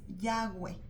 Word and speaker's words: Yahweh: más cercano según los eruditos, de cómo se pronuncia el nombre original de Dios es Yahweh.